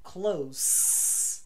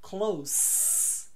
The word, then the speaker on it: close: CL O S E se eu falar com s close close é um adjetivo e significa the opposite